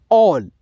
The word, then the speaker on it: all: तो यहाँ पे देखिए ए का जो उच्चारण है ओ में आएगा, ऑल, ऑल, ठीक है।